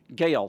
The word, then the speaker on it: Gael: Is that how he pronounces it? Gael.